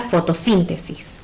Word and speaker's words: fotosíntesis: Veamos el ejemplo con la palabra fotosíntesis. La separamos en sílabas.